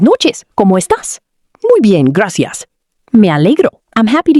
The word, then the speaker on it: gracias: Many learners pronounce gracias like gretzias. But natural pronunciation is softer. Gracias. Repeat after me. Gracias.